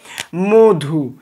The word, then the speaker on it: মধু: পরে রস উকার রয়েছে তাহলে উচ্চারণ কি হবে মধু ম টা হয়ে যাবে ওকার ম ধ সুকারে ধু মধু দেখোতো ম অ টা ওকারের মত উচ্চারণ হয়েছে তাহলে আমরা লিখছি মধু